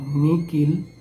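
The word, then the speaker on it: nihil: La letra H se lee como K en las palabras M-I-H-I, Miki, o Nikil, N-I-H-I-L.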